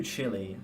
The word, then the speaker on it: Chile: Uh, next track, Voodoo Chile, 15 minutes. The chat proceeded to absolutely ridicule me for that pronunciation. And in my defense, that word does not read as child the first time you read it.